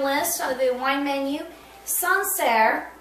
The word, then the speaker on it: Sancerre: or the wine menu, Sancerre, okay, is how you say it.